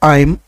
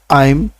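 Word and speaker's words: I'm: এই আমটাই সবচেয়ে বেশি ব্যবহার হয় তবে সঠিক উচ্চারণ হচ্ছে আইম আইম আইম তবে আম বললে ভবে না।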